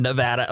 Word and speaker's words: Nevada: But if you happen to be out in Nevada, is that how it's pronounced, Nevada. Daniel? Nevada, okay.